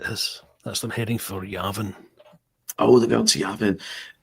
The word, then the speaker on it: Yavin: I did recall someone pronouncing it something weird like Yarvin or something. Did anyone else catch that? Someone, Yeah. one of the characters pronounced it Yarvin. Yarvin. Yeah. It's a bit posh.